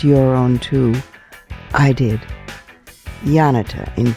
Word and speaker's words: Janita: Um her name is Yanita. It's spelled J A N I T A, but it's pronounced as if it were a Y. Yanita.